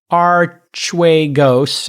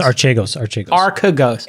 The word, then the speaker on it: Archegos: His firm, Archegos, I think it's how it's pronounced. Archegos.